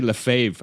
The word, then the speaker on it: Lefebvre: what did I say Le fave I didn't even know if I pronounced your last name correct no that's that's right on that's right on so